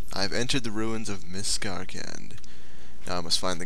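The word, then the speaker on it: Miscarcand: So we are going to Miskarkand, or as I call it, or called it when I was first here, Miskarand or something. I pronounced it very badly, but Martin has corrected me, and here we are.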